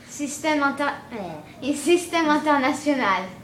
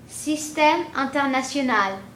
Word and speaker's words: Système International: Système International. Say it once more. Système International. Wow, cool. Excellent. Thank you. Now you heard it right here first, man. That's French. That's French. And that's how you say it.